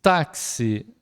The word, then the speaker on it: táxi: Táxi, acento agudo no tá, porque é uma paroxítona terminada em I.